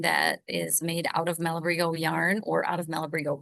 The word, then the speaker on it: Malabrigo: Mashida and Anverario and Malabrigo on its own is Malibrigo. We have people come in and say Malabrigo Malabrigio.